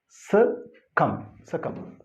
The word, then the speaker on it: succumb: So correct pronunciation of this word is succumb.